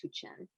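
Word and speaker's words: Huichin: to also say that it's pronounced too chen h-u-i-c-h-i-n is pronounced hu chen just because i think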